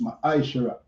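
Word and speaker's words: מעשר: verse 8 to 10 means tenth in the hebrew and is pronounced ma shara ten percent of every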